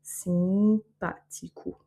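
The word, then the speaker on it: simpático: Donc ici, on a le A qui a un accent, donc il est tonique. Le O à la fin qui va se prononcer OU, simpatico.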